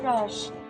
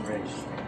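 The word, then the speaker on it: Ra's: It's a pleasure to meet you, Raj. The pleasure is all mine, but it's pronounced Raish.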